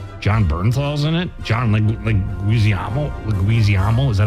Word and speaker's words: Leguizamo: John Leguizamo. Is that how you say it? Yeah. I have no idea who that is. You know who John Leguizamo is.